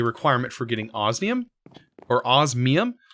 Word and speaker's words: osmium: for getting osum or osmium I I always pronounce it osum look an N even though it's an M um but we still